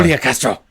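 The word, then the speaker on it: Julián: Julian Castro.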